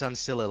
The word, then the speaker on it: Onsilla: It's Onsilla, like the animal. If you Google it, my main account is Ocelot. It kind of looks like an ocelot. So it's Onsilla. That's how you pronounce it.